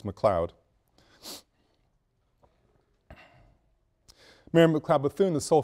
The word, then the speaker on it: McLeod: Mary McLeod Bethune and the spelling is correct in the pronunciations corrects McLeod Mary McLeod Bethune the